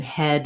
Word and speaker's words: head: a little tricky because letters e a often will say e but in head they say ah like in red so you might think